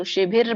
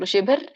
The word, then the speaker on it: ಋಷಿಭಿರ್: ನೋಡಿಕೊಳ್ಳಿ ಪದಗಳನ್ನ ಬಿಡಿಸಿ ಹೇಳಬೇಕು ಋಷಿಭಿರ್ಬಹುದ ಇಲ್ಲಿ ಪದವನ್ನ ಬಿಡಿಸಿದಾಗ ಎರಡು ಪದಗಳಾಗುತ್ತೆ ಋಷಿಬಿಹಿ ಬಹುದ ಕೂಡಿ ಹೇಳಬಹುದು ಇದನ್ನ ಋಷಿಭಿರ್ ಬಹುದ ಋಷಿಭಿ ಆದಮೇಲೆ ರ ಹೇಳಬೇಕು ಋಷಿಭಿರ್ ಬಹುದಾಗೀತಂ ಆಮೇಲೆ ಎರಡನೇ ಲೈನಲ್ಲಿ ಇಲ್ಲಿ